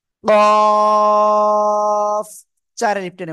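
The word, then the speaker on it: قاف: মোটা আওয়াজে উচ্চারণ করতে হবে। কফ, চার এলিফ টেনে উচ্চারণ করতে হবে।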